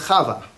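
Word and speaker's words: חוה: Eve the name of kava Eve we say in English but kava is how you say it in Hebrew and it does we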